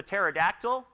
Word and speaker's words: pterodactyl: knows that or the pterodactyl which i've always found the silent p somewhat untrustworthy or the obvious right